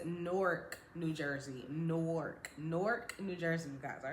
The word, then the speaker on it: Newark: Norc, New Jersey, you guys. All right, that's how you pronounce it.